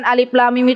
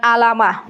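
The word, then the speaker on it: الم: Mim itu satu huruf ibu-ibu ini dibacanya Alif Lam Mim bukan alamah kalau yang belum belajar Tahsin dibacanya apa alamat padahal bukan alamat Apa bacanya Alif Lam Mim Masyaallah namanya Huruf apa ini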